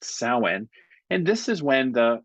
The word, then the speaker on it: Samhain: And it's spelled like Sam Hain, but it's pronounced 'sow-wen' and this is when the winter squash the pumpkins, the large hard shelled squash are ripe.